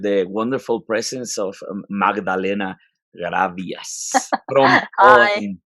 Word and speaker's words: Grabias: as always with the wonderful presence of magdalena gravias how how it is pronounced in paul in in polish my name